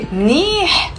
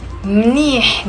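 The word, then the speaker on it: منيح: Number three, you can just say mnih, mnih. There is a h in the end and it's one syllable.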